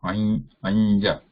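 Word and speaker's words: अञ्ज: So that nasal has to be this nya sound. Anja. We do not have to stop here. Ja. But together when it is pronounced anja. Anja. It is not pure nasal.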